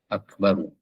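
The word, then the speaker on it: أكبر: yang ketujuh waamaddi Akbar tidak mengematkan tidak memanjangkan ba dalam lafaz Akbar ya gitu ya ak baru kalau dibaca wakaf Akbar gitu tidak boleh dibaca bar kalau diematkan itu jadinya panjangar begitu dianqa Akbar ya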